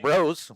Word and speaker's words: Bros: Apparently number 2, his last name is pronounced Bros, like your brothers.